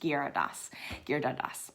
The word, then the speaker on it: Giridharadas: It looks like Giridharadas, but it's pronounced Giridharadas.